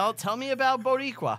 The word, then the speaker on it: Boricua: Wait, is it Boricua? Is she Puerto Rican? No, she's not And you're not Puerto Rican. saying it. You're saying it wrong. Boricua, Bodega, Dominicano, Colombiano.